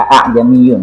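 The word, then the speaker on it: أَأَعْجَمِيٌّ: Jadi itu di tengah-tengah antara huruf hamzah dan huruf ha, sehingga lafaz yang keluar tidak seperti hamzah, tidak juga seperti ha. Akan tetapi lafaz yang keluar di tengah-tengah kedua huruf tersebut, tapi tidak seperti alif.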